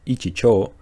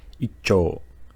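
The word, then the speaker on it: 一兆: make the pronunciation easier instead of saying 1 trillion as ichicho we say icho and again icho well I hope all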